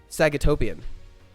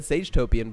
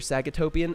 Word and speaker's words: Sagatopian: Whoa, Sagatopian. Thank you for the 12 months. I almost said Sagetopian, but I know better. You're Sagatopian, and don't let anyone say your name wrong.